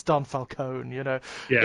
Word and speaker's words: Falcone: So many wrong pronunciations. It's not Falcone, it's Falcone. It's Don Falcone, you know.